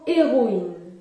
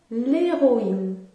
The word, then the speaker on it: héroïne: Prenons l'exemple du mot héroïne. Héroïne. Le mot héroïne débute par un H muet. Au singulier, il faut dire l'héroïne.